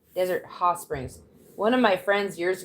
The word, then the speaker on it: Desert Hot Springs: The original, like the people who know the OG of Desert Hot Springs know that you're not supposed to pronounce the T in the hot springs.